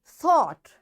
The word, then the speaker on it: thought: So there are more examples of silent G in GH in case when it comes after a vowel. And what those words are? thought, thought.